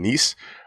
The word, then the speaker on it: Nice: And Evo France was being in in Nice. Um, I think that's how you actually say it, even though it's spelled nice.